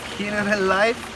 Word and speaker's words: Generalife: So we're currently in a place called Generalife is a spelling, but the Spanish pronunciation is something along the lines of Generalife.